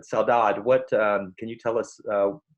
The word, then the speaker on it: saudade: I put an extra syllable on the end, but Saudade.